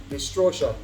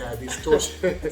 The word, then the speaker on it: dystocia: There's no R in it. Yeah, dystocia.